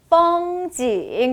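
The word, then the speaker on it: 风景: 이거 쓰실 거예요 되셨나요 풍경은 중국어로 뻥지 역시 F 발음 나왔네요 뭐라고요 뻥지 한번 더요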